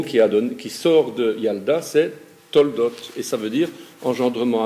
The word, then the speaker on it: Toledot: Et en fait, on dit Toldot, puisque Toledot, il y a une voyelle qui rend muet le lamed de l'enseignement.